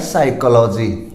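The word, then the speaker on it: psychology: तो ये अपना वर्ड है साइकोलॉजी, यानी एक विषय का नाम है। और यहाँ एस से पहले पी साइलेंट है और एम से पहले एल है तो एल साइलेंट है।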